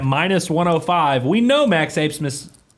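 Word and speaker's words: Abmas: We know Max Asmus. Asmus. B is silent. Asmus.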